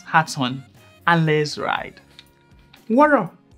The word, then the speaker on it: Woro: on and let's ride water as pronounced war raw is a popular pattern